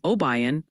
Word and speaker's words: Obion: Also, the pronunciation police are back. They're gently suggesting it's McCandless, Pennsylvania. Apparently, there's no candy, and Obion, county for that spot in Tennessee.